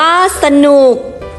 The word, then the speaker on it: สนุก: รอ เรือ ลอลิง วอแหวน ให้ ออก เสียง เป็น สอง พยางค์ พยางค์ หน้า ให้ ทด สอบ เสียง คล้าย ประสม สระ อะ ครึ่ง เสียง พยางค์ หลัง ให้ อ่าน ออก เสียง วรรณยุกต์ ตาม เสียง อักษร สูง หรือ อ่าน เหมือน มี หอ นำ พยางค์ หลัง ฝึก อ่าน คำ อักษร